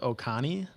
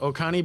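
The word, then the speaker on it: Oconee: a georgia-based brewery called o-c-o-n-e-e what is that word i don't know oh oh what connie oh connie oh connie brewing o-c-o-n-e-e-e that's how you spell it okay is that a county that sounds correct sure oh connie brewing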